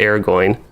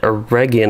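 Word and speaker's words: Eregion: used to call it air going okay so bryant uh you said that a region is pronounced with gu instead of sounding like a j okay that is good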